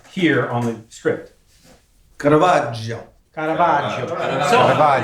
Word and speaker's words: Caravaggio: So, give us the pronunciation that you would like to hear on the script. Caravaggio. Caravaggio.